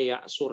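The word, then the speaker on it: يعسر: Fa in asura, ini dibacanya ya'sur ya.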